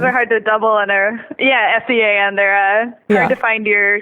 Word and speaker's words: Sean: Oh, there's Seamus, Sean Michael, and Rory, so... And I imagine it's those Sean S-E-A-N. Those are hard to double in S-E-A-N.